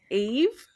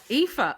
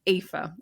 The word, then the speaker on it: Aoife: Okay, my guess is it Eve? I think it's Aoife. Aoife.